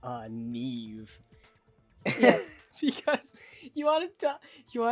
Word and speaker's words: Niamh: Yeah, that is pronounced Neve.